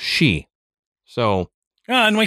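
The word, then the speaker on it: sidhe: City but it everything you look up it's pronounced she so yeah and we say you know it's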